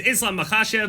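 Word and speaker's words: Islam Makhachev: Anyway, for the card that is actually about to happen, main event, Jack Dela Matena, the welterweight champion against Islam Makashev, lightweight champion, longtime lightweight champion.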